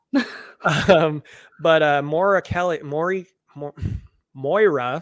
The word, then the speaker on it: Moira: Um but uh Moira Kelly Moira, sorry that's how you say her name.